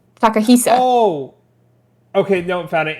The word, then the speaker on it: Takahisa: No, not Takashi. Takahisa. Oh. Okay, no, found it. It's this is what I'm looking at. Akihiko Yoshida. Oh, I'm looking at somebody else completely. Yoshida. Who's Takahisa?